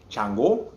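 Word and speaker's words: Sango: like um um so we say chango they say like more like a shun that's what it sounds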